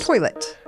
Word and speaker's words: toilet: you're not from Kentucky please toilet we don't add an R there's no R in there there is no R in toilet t o i l